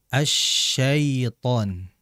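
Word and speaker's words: الشيطان: ya ketika mengucapkan taawud asyaitan maksimalkan ya dan perhatikan pada kelembutan di sifat allin atau madlin ya asyaiton ya di situ dientengkan dirileks ya bacanya asyaiton asyaitan Ya dijelaskan di situ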